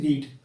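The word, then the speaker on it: read: रीड। और रीड की second form होती है रेड। मतलब स्पेलिंग सेम रहेगी लेकिन हम इसको रेड बोलेंगे।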